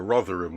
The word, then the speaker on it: Rotherham: rotterham he's in you're on about rotherham yeah rather ham a rotherham we pronounce it yeah rotherham is in england rotterdam